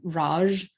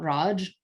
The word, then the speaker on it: Raj: However, it has the pronunciation, the sort of anglicized US pronunciation of Raj and not Raj.